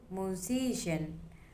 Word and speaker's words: musician: Example number two, musician. The stress is on C.